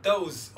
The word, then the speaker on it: those: Bu da those olsa gerek herhalde. Hayır öyle değil. O açıkça S'nin S olarak telaffuz edildiği bir kelime.